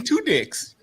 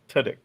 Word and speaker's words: Tudyk: Two dicks? That's not how you say his name. How do you say his name? Tudyk.